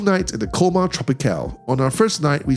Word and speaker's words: Tropicale: rooms at the Colmar Tropicale. By the way, I just realized that Tropicale, which is the way I've been pronouncing it all along, it's actually pronounced Tropicale.